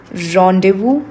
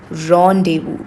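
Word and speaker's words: rendezvous: it is also called rendevu. Rendevu. It is a French word. That is why it's pronounced differently. You don't pronounce zed explicitly. You don't pronounce s explicitly.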